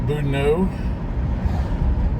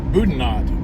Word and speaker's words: Boudinot: I first moved here, Budnott. Uh because everything in this part of the country is pronounced wrong, and I just figured that the T would be pronounced.